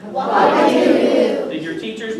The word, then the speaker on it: Ouagadougou: Everybody say Ouagadougou. Ouagadougou. Did your teachers pronounce that correctly when they told you We the didn't.